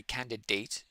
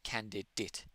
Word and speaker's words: candidate: It's like it's not really candidate. It's more candidate. Candidate. Whenever you see a word that ends in ate, especially candidate, like certificate, candidate, template, the vowel at the end is very lazy, I would say.